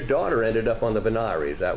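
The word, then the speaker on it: voir dire: and did you talk I've never heard it pronounced that way vanir I've always had it I've heard it always pronounced veneer VY is that some alternative pronunciation I've been missing all my life okay and Mr Waters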